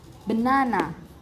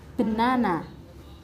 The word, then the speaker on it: banana: The ninth word is banana. The phonetic sound is banana. Banana. The stress is located on the second syllable and the meaning of this word is pisang.